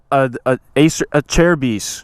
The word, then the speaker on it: Acerbis: Gucci now baby hey how do you say a chair a chair biess the plastics brand Erebus but it has a/c you know the C is silent I just quickly wanted